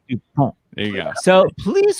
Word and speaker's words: Dupont: Is last name Dupont or Dupont? How did you pronounce it? It's Dupont. Yeah, the first way. Dupont.